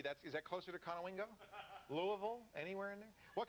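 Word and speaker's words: Conowingo: Where's Kanoingo? Is that how you say it? Yeah. Konowingo. Mhm.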